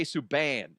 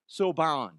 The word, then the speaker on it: Subban: PK Subban. Is that how you say it? Subban? Subban.